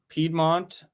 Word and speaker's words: Piedmont: I think Piedmont and Piemonte are both correct. It's a difference of languages.